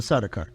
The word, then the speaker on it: Sardaukar: Did you pronounce it? The Sardaukar.